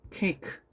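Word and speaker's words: cake: 예를 들어서 자 많은 친구가 이거 케이크 자 선생님이 한글처럼 말했죠. 발음은 케이크라고 합니다. 자 이건 몇 음절일까요? 그렇죠. 사실 이거 자 2음절 하면 틀렸습니다. 3음절도 아니에요. K 1음절이에요.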